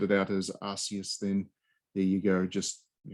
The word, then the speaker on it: Arceus: Anyway, Pokemon Arceus. Is that how you pronounce it? Is that the way we're pronouncing it? Arceus?